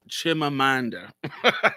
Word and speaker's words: Chimamanda: Chimamanda. Chimamanda um Adichie got in trouble for. Absolutely, she did. And if I have a video called "What I Think About Chimamanda," and I actually agree with Chimamanda.